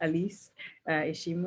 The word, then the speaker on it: Alice: elise by the way my name is pronounced elise i am a last